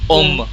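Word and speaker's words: homme: मैन होमे होमे नो इट्स नॉट एट ऑल होमे में it's loam एलपस्ट्रोफ एच ओ ऐश O double M and then O at that and इट्स ओम एच is always silent French people don't know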